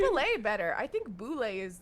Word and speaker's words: bulette: pronounced ballet it's pronounced it's not pronounced ballet I I'm just looking to who I was prepping according to the guy who made uh who made it it's called it's called a boulay and I can't I